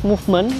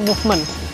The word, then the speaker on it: Movement: Nah ini dia tuh pakai nama Movement, dibacanya Movement ya, bukan Mumet. Banyak yang bilang ini Mumet nih.